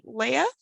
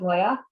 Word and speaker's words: Leah: i mispronounce your name leia hi uh that's correct pronunciation um yeah my name is leah um i graduated from